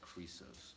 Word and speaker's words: Chrysos: My crip is pronounced like Chrysos or crip, no chirp like a bird.